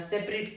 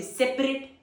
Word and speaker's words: separate: Example, keep the raw meat on a separate plate. Keep the raw meat on the separate plate. Second pronunciation, separate. Separate, a y t. Here it's it, it's a y t.